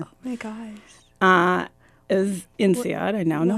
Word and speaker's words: INSEAD: It was INSEAD. I now know how to pronounce it.